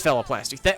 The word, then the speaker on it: phalloplasty: It is phalloplasty. Okay, I was adding an extra syllable.